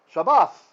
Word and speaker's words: Shabbat: So in ancient pronunciation, a tav without a dagesh is a th sound. That's why we get English cognate Sabbath from Shabbat, because in Hebrew it's Shabbath, right?